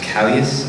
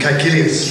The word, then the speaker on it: Caecilius: So you were in Doctor Who as Callius, I believe, if I'm pronouncing that right? Caecilius. Caecilius. It's Latin.